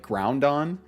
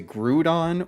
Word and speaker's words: Groudon: Because I have had people add an N in there, like Groundon. I have had people say Groudon or Groudon.